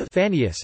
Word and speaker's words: Phanaeus: Like Phanius, Phne, Phanios, Phanios, literally giving or bringing light.